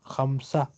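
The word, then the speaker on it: خمسة: When we stop at Tamabuta, we pronounce ha. Khamsa.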